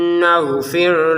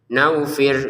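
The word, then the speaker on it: نَغْفِرْ: Untuk ginnya perhatikan di sini jangan sampai seperti huruf G dalam bahasa Indonesia ya. Itu kan terlalu kasar. Nakfir nakfir atau seperti huruf wau ya. Enggak boleh naufir. Enggak boleh terlalu lembut. menjadi huruf wau nafir enggak boleh tetap huruf ginagfir menjadi huruf tenggorokan bagian atas nagfir lakum nah lakum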